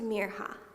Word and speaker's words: Mirha: couldn't say it right they stretched out the eye until it sounded like an e and there are sounded wrong some people even forgot the H entirely hi Mina Miriam Mira